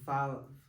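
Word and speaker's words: ו: In um other letters is pronounced as vav.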